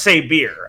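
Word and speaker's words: Sabyr: Like, Saber is spelled S-A-B-Y-R. Okay, like, if this is quote-unquote the RWBY way we rename things, like Takeo style, it really should be pronounced Saber. And I'm gonna die on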